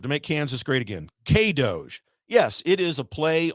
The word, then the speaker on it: K-DOGE: K-DOGE. I'm getting a nod over there. Yes, that's how you pronounce it.